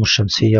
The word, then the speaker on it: الشمس: اللام كتبت ولم ننطقها مثلا كلمه الشمس ننتقل من الالف الى الشين مباشره ولا ننطق اللام لو قلت كلمه الشمس خطا لان هنا اللام لام شمسيه تكتب ولا تنطق اذا نطقت كلمه الطويل